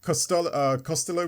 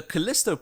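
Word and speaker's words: Callisto: You got Costello Protocol, which I don't actually remember the music for that. Can you? Was that correct? Yeah, the Kalisto Protocol.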